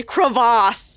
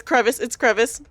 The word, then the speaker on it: crevice: I'm not gonna lie, for some reason I wanted to say crevasse, even though that is not how you pronounce it, but I almost said crevasse. So I was like, oh, no, it's crevice.